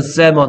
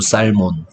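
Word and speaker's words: salmon: 그리고 누가 읽으라 그러면 살몬이라고 읽으면 좀 부끄러우니까 세먼이라고 읽고요. 맞습니까? 어쨌든 이 글자 중에 누가 소리 안 난다? L이 소리 안 나.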